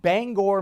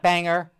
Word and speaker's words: Bangor: And sure enough, there's a character in the police department of Bangor, Maine. And by the way, I worked in Maine. You pronounced the name Bangor, not Banger, okay? Bangor. Very simple.